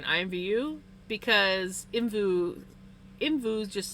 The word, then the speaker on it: IMVU: It's all capital letters, so I would spell it out as capital letters.